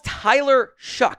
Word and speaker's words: Tyler Shough: Louisville's Tyler Shough, that is how it's pronounced, by the way, is next up here.